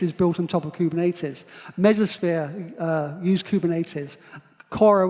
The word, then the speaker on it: Kubernetes: and i'll help you but it's kubernetes it's a greek word i'm not going to